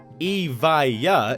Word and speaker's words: Evija: Evija is how you say it, and this $2.1 million